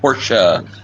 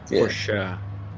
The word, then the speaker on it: Porsche: I didn't realize he was in the Porsche as well. We need to add him to our uh our little group chat. Team Porsche. I think currently he is P3 in the Porsche standings. Porsche. Porsche.